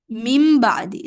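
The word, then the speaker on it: من بعد: It becomes mim ba'di, like literally M-I-M, mim ba'di. That's how you pronounce it, but it's written as min ba'di.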